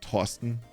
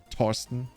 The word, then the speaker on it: Torsten: You would still call it Torsten, like a very hard T. Torsten.